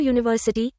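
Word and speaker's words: university: সো we have to ইউজ a before ইউনিভার্সিটি বাট নট and before ইউনিভার্সিটি। ইউ স্বর্ণবর্ণের আগে এ ব্যবহৃত হয় যখন এর উচ্চারণ ইউ এর মত হয়।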